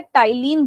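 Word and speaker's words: ptyalin: इसको हम P silent रहता है, टाइलिन बोलते हैं।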